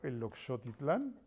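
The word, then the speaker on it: Eloxochitlán: A ver, digámosle a quienes nos están viendo que Ricardo Flores Magón nace en San Antonio, el Oxotitlán, lo pronuncié bien, Oaxaca, Perfecto.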